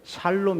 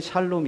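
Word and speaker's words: שלום: 사람들은 안녕하세요 이렇게 인사를 하는 것처럼 이스라엘 사람들은 살롬 이라고 이렇게 인사를 이전까지는 샬롬 이었읍니다 그런데 이 성경책이 개역 개정판 으로 나오면서부터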